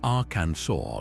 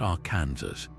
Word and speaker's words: Arkansas: You must say our cansaw, not our Kansas.